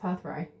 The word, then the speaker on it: Perthro: Oh, it's actually pronounced Perthrope, meaning cup and container.